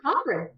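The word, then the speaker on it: Crochan: of the cockran riches is it a croan no it's actually Cochran no it's Cochran What audio book says Cochran I've been saying it wrong yes you have been yes yes it's Cochin yeah cochan so uh there are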